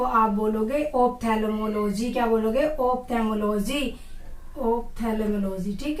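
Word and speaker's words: ophthalmology: इसका correct pronunciation क्या है या इसकी करेक्ट स्पेलिंग क्या है, ठीक है। तो स्टडी ऑफ आईज को आप बोलोगे ऑप्थेल्मोलॉजी।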